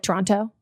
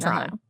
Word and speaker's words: Toronto: And then also, you're hearing how I'm pronouncing it, very Canadian. Toronto, not like Toronto.